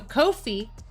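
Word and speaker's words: Ko-fi: Coffee rhymes with no fee. Listen, but then why do they say buy me a coffee? So, Kofi, no fee.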